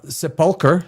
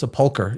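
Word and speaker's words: sepulchre: Peter's Basilica and the church of the holy se I hate that word uh seepulkar it is it is sepulkar it's like a thousand ways to pronounce it these structures symbolize Christianity's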